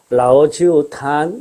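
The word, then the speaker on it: 老酒坛: 거기에 따르면은 요 글자의 발음은 TAN으로 되어 있어요. 탄 이렇게 되어 있습니다. 그러면은 이 술의 이름은 라오지우 탄 이렇게 됩니다.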